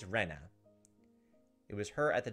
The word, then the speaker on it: Rena: way it's pronounced is with a flat E like Rena I think we're pronouncing it wrong I think it's Rena it was her at